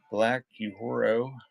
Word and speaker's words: Black Uhuru: So Vince Gill, Sounds of Halloween, sound effects tape, Black Uhuru, that's how you pronounce it.